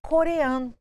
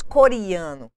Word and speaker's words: coreano: saber que na coloquialidade no coloquialismo é pronunciado com som de i mas na grafia O correto é falar e escrever com a letra e portanto de exemplos coreano